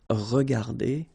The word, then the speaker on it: regardées: Remember that we don't pronounce them, so you will get phonetically regarder and then here the same form regarder.